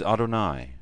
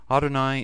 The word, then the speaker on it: Adonai: Adonai, however, has three syllables instead of Ani's two, so the don of Adonai is spoken very briefly, and the yod is extended.